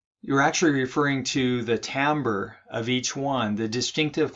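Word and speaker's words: timbre: musicians or something and this word right here is pronounced tamber it's not Timber it's tamber and that is basically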